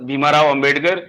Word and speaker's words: भीमराव अंबेडकर: होता है कई बार, हर किसी का प्रोनाउंसिएशन क्लियर नहीं होता है, लेकिन आपने जितनी बार भी कहा भीमाराव अंबेडकर कहा, आप उन्हें भीमराव अंबेडकर कहें, ज्यादा बेहतर होगा।